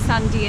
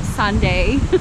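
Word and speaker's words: Sanday: Bay of Newark on Sunday which is pronounced Sandia not Sunday I've never seen such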